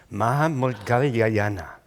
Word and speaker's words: Maudgalyayana: So the venerable, his name is Maha Moggallana.